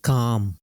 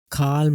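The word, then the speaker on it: calm: एल किस तरीके से वर्ड में साइलेंट रहता है, जैसे काम, काल्म नहीं आएगा, काम।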